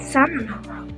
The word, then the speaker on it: salmon: Salmon. Salmon is the fish. Okay. show you. Sample. Okay. Yeah? So again, just like almond, we don't pronounce the L. It's silent.